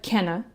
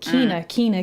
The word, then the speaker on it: Kena: So at first I said Kenna. I'm like, oh, that's Kenna. Then it makes sense. They didn't change it. They corrected it in like a video. They said how it's pronounced or whatever, and I thought it was Kina. So I finally got over the hump of like saying Kenna, and I'm like, oh, Kina, Kina.